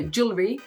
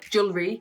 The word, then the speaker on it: jewelry: it's supposed to sound the easiest way is to just break it into two June really read sounds a bit weird when you say like this jewelry but if you pronounce it like that and then you start to practice it a little bit more and it becomes more natural it's gonna turn into the right word so jewelry jewelry jewelry jewelry jewelry jewelry